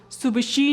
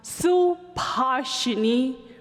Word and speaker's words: Subhashini: your name my name is not pronounced Suba she nevis teeth are super shiny I was afraid that people would actually start calling me super shiny well the fact that they are correct is not the issue my name is pronounced su partially when I give it